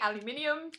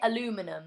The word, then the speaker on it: aluminium: Um, hey, from the Netherlands, say aluminium. Aluminium. Aluminum. Yeah. Yeah. Americans say aluminum. It's aluminum.